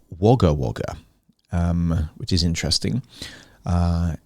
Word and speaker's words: Wagga Wagga: it says about wagawaga all right it's actually pronounced wagga wagga um which is interesting uh it's the largest